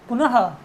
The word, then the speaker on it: पुनः: क्योंकि ह का उच्चारण जो है कंठ विसर्ग का जो उच्चारण है वो ह के समान है, इसीलिए इनमें जहाँ भी विसर्ग जुड़ा है वहाँ ह के समान ध्वनि आएगी।